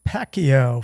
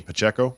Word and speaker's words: Pacheco: I am going to take Pacquiao for KC. You mean Pacheco?